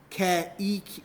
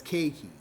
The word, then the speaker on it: keiki: The word keiki means child in Hawaiian, but E-I, as we hear of this, is A. So you don't pronounce it as ke-e-ki. You pronounce it as keiki.